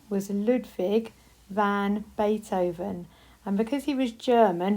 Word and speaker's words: Beethoven: It's Bay, and then it sounds like toe, and then it's Ven. So it's Beethoven, Ludwig van Beethoven.